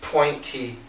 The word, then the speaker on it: pointy: Now, pointy, the faster we say it, we can cancel the T. Pointy, pointy, no T at all.